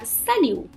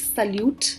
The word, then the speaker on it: salut: like hi and uh the t at the end of it is silent so they say salu and do not call it salute because they don't pronounce